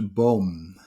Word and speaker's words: boom: tree in dutch we pronounce it as a bomb you spell it as b double double o m there